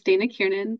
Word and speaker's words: Dana Kiernan: My name is Dana Kiernan. The pronunciation was perfect.